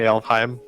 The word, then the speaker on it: Alfheim: It's most definitely Elfheim.